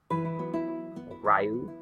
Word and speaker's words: Ryu: Ryu, probably is, I think that's how it's pronounced.